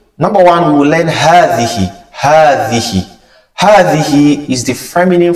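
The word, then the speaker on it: هذه: Number one, we will learn hadhihi. Hadhihi. Hadhihi is the feminine form of the word hadha. It is pronounced as hadhihi with alif, with a mad between the ha and the tha.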